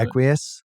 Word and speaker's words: Equus: How do you pronounce that? Not looking at Equus?